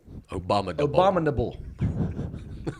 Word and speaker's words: abominable: Like Obama, Nabul. Abominable.